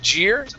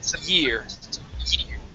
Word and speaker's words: year: So instead of jeer, it's last year.